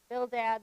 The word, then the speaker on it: Bildad: So here's the pronunciation. So we have Eliphaz, the Temanite, Bildad, the Shuhite, Zophar, the Naamathite.